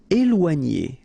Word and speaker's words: éloigner: Okay, so here you've got this accent aigu on the top of E, so you will get the sound E, okay, and after that you've got this OI, OA, and then G and together N. Éloigner. Éloigner.